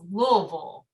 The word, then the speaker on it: Louisville: Do you say Louisville or Louisville, depending on where you are, who you're talking to? Yeah, I'm trying to say it correctly as best I can. So it's Louisville. Louisville. It's the best I can do it.